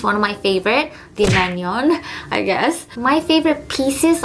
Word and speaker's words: Manon: Apparently it's pronounced Manyon in Korean.